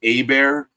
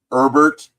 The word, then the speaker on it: Herbert: 19th it is Lucas I've heard it pronounced Abear but Herbert Herbert it's come on man that James Kirk knows what that is but that's minus - 8 132.